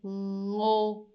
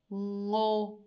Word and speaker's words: ngô: You have the ng sound at the end. And this one is going to be ngô, nghe, ngô, nghe.